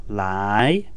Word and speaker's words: 来: the basic chinese word lie lie pronounced in second tone which means to come